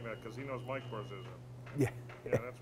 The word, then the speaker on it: Barzizza: My name is Barzizza, Spell that last name. B-A-R-Z-I-Z-Z-A. And it's Barzizza.